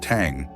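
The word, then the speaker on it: 桑: In traditional Eastern Chinese language, mulberry is pronounced tang, which also means mourning or funeral.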